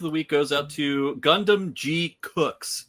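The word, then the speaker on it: Gundam GQuuuuuuX: My woof of the week goes out to Gundam G Cooks. Yes, that's how it's being pronounced on the show.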